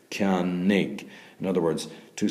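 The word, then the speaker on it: ceannaigh: Like, for instance, Ciannig. Two syllables, ciannig, I buy, okay?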